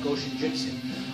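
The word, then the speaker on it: Goshinjutsu: When you pronounce it, you don't have to separate the Go of Go Shinjutsu. I was told that the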